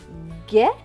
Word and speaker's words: guêpe: Donc G et E, gai. P et E, peu. Donc ce mot va se prononcer guêpe.